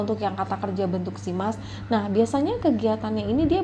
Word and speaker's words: します: untuk Mas melainkan bentuk Simas ya atau mereka kira si mas ya ini cara bacanya simas Hai Oke kita lanjutkan